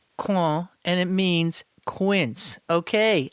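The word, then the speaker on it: coing: i hit the french piece and here's the pronunciation claw and it means quince okay i knew that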